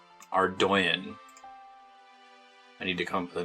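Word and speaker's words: Ardougne: to pronounce or Dona Google says it's pronounced our doyon are doin I need to come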